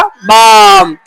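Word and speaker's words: balm: क्या बनेगा बालम बालम बालमो में एल साइलेंट है तो क्या बन जाएगा? बाम।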